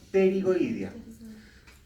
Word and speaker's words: pterigoidea: y se llama fosa pterigoidea. ¿Ya? En rigor se escribe con P antes. Pterigoideas. Creo que escribir bien, pero si lo escriben con T. Pterigoidea.